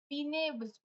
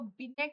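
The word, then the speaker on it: Binet: लेकिन बिने इसको बिनेट नहीं, बिने बोलते, साइलेंट हो, बोलोगे साइलेंट ही होता है, तुम ठीक ही लिखा ही क्यों?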